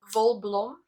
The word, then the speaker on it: Wolblom: they're saying bulbalon right so it's vol blom so volblum is two afrikaans words that i mixed mashed up if i can say it like that so vo is wool or yarn in afrikaans and blom is flower in afrikaans and i came up